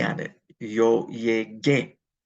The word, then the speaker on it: llegué: And then I would put an E on it, yo llegué. But I have to include a U after the G to get a hard G sound.